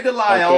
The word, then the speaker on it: DeLisle: Gray Delisle, is that how she pronounces it? Gray Delisle. Gray Delisle.